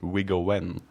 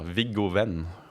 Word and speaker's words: Viggo: Wiggoen. But in Norwegian, is that how? No. No. Vigen. I just don't know the difference between W and V.